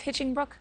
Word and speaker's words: Hinchingbrooke: Here to talk about everything is Viscountess of Hitchingbrook. I'm going to say that. Is it Viscountess of Hitchingbrook? Yes, you've got it.